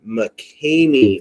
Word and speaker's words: McCamey: Correction. It's McCamey. McCamey. I'm sorry, McCamey. McCamey. And McCamey? that's spelled McCamey. M-E-Y.